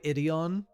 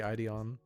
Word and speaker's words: Ideon: it's space runaway idion wait I'm trying to think if I'm saying that right because I know some guy will be like um actually it's spelled ID on I think it is actually ideon because they have like